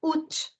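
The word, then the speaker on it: août: the S is sounded August in French is called UT instead of pronouncing it as a it's UT a silent T pronounced UT eight in French is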